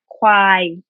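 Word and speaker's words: ควาย: But In Thai, buffalo in Thai is kwai. Mm. Can you pronounce it, Eric? Why? Kwai. Yeah, Why? like kwai is like fuck you, like you know. Yeah, kwai. Like make it sound angry, like Why?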